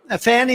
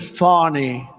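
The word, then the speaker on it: Fani: Fannie is just the beginning. It's not really, excuse me, I'd like to apologize to Fannie. It's F-A-N-I. She pronounces it Fawny.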